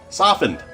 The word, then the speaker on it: softened: softened with a tea but the T is silent softened put it on in